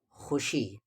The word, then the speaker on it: خوشی: بھی یاد کر لے، ہمیں خوشی، اسے خوشی نہیں پڑھیں گے، واو سائلنٹ ہے پر لکھا جائے گا، خوشی کے ساتھ ساتھ